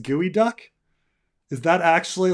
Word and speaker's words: geoduck: uh I wondered if geoduck pronounced gooey duck is that actually like